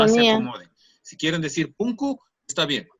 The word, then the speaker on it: punku: Si quieren decir punku, está bien. Si quieren decir pungu, está bien. Cualquiera de las dos formas de pronunciación están correctas.